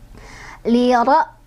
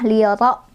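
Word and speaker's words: لِرَ: Li ra. Oh iya, ro-nya juga dia punya hukum tafkhim. Ro-nya berbaris fathah, maka cara bacanya ditebalkan ya. Liro, liro bukan lira, hati-hati, tapi liro ya.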